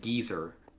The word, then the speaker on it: geyser: our side on the on geyser versus geezer? I'd say geyser. I say geyser. I was not aware Brits pronounce it geezer.